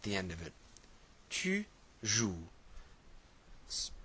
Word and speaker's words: joues: Tu joues. Pronounce the same way, but with an ES.